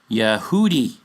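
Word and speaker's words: יהודי: sources will tell you this is pronounced Yehudi or similar or in plural Yehoudim Y not Yah Y However once again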